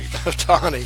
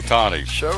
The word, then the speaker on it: Ohtani: Ohtani. See how I phonetically wrote that out? Yeah. Shohei Ohtani.